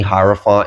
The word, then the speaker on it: hierophant: is definitely giving me hierophant energy and I did kind of pronounce that like intentionally because it's like higher font right higher word I'm hearing